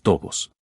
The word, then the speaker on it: tobo: planteada, ¿cómo pronunciar flexosos tobos? La X de flexoso suena GS, como en exigir, y tobo se pronuncia de modo que rime con robos.